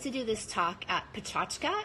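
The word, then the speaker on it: PechaKucha: I was invited to do this talk at Pachachka. It's this amazing, if you ever have one in your city, it's looks like Picha Kucha, P-E-C-H-A-K-U-C-H-A. It's pronounced Pachachka.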